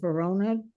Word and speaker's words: Vona: That's 2024-C3 CAM Carlo Vona. Am I pronouncing this correctly, Attorney Blank?